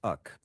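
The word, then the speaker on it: أخي: Arabic में brother के लिए लफ्स अक भाई यूज होता है. प्रोनाउंसिएशन में खा उर्दू जैसा खा साउंड है.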